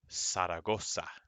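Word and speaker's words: Zaragoza: right next this is saragosa the z in spanish goes s saragosa although this place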